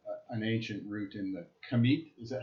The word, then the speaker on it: Kemet: from your lineage, an ancient root in the Kemet? Is that, how do you pronounce Yeah, it? Kemet.